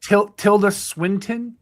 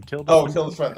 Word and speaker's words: Tilda Swinton: Yeah, Tilda Swinton, I think is how you say her name. Tilda Swinton.